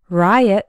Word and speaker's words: riot: RIOT starts with R, like in the words right, red, and rock. The letter I has the I sound, like in ice, night, and ride. And the final OT sounds like in the word pilot. Riot has two syllables, and the stress is on the first one, riot.